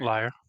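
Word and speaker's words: lyre: is a uh a a leader a liar a l-y-r-e a how do you say it carved like liar liar liar liar there's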